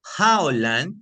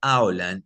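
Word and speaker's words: העולם: Pero es difícil, porque si se pronuncia Jaolán, tiene un significado, si se pronuncia Aolán, significa otra cosa diferente.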